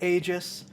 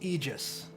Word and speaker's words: Aegis: Aerospace and yes I know most people could pronounce it Aegis but in Universe it's pronounced Aegis and it's one of those things where since